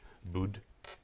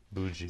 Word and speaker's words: Budzi: Bud? No. No, you don't. Budzi. See, the D, for the DZ sound makes a J sound.